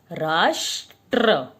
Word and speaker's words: राष्ट्र: नीचे हम इसे लगाएंगे राष्ट्र क्योंकि उसके उच्चारण में ट के साथ र को र जुड़ रहा है क्योंकि कई बच्चे सोचेंगे